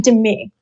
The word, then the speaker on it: Demi: team yeah and um I pronounced my I pronounced my name Demi so Demi in Demi it's Demi okay all